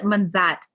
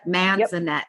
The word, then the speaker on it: Manzanet: i am introducing all of you to manzat no i said your name wrong that's okay sorry no it's okay man that man is a net i'm so sorry no i haven't i haven't